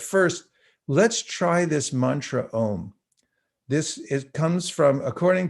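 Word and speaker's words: ॐ: a um but it's pronounced om with a little nasal like bonjour so i'm going to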